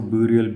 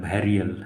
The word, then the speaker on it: burial: देखो मैं इसको ब्यूरियल ब्यूरियल बोलता था, इसको ऐसे प्रोनाउंस किया जाता है बैरियल, है ना।